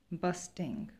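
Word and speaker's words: bursting: grow it called blossomed busting busting r is silent here busting uncontrollable grown-ups grown-ups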